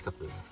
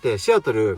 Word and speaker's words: Seattle: I was sad And even more difficult to pronounce Seattle If you say like"Shiatoru" they don't understand They pronounce "Seattle', Japanese pronunciation is "shiatoru".